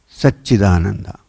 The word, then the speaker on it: Satchidananda: scriptures, and that is Satchidananda. Now when you say Satchidananda, it's actually made up of 3 syllables. One is Sat, the other is Chit, and the last one is Ananda.